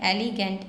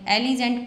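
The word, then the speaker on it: elegant: इसका सही प्रोनाउंसिएशन है एलिगेंट। एलिजेंट पढ़ते हैं कुछ लोग, इसको एलिजेंट नहीं है, एलिगेंट इसका सही प्रोनाउंसिएशन है।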